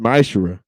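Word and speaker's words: מעשר: Means tenth in the Hebrew, and it's pronounced ma'ashera.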